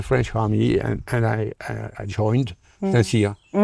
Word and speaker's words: Saint-Cyr: You have to help me to pronounce this. Saint-Cyr. Saint-Cyr.